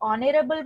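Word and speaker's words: honour: अगर आप ऑनरेबल बोलते हैं तो एन ऑनरेबल पर्सन होता है. आप ऑनर बोलते हैं तो वहां पे भी एच साइलेंट होता है.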